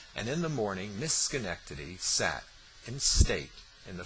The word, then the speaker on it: Schenectady: He pronounced her name Schenectady, with a strong accent on the penultimate syllable. "Schenectady," corrected his hostess.